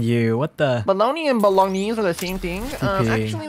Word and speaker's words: bolognese: And they say Roscoe had the best pronunciation for bolognese. Bolognese. Bologna? No way. No, bolognese. Yeah, and then Bolognese. And then okay. Bologna is a city. Okay, because that's where it comes from.